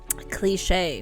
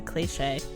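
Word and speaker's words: cliché: if you're choosing simile cliche now what is a cliche it's not a clich it's a cliche that's why there's an accent on the e a cliche is an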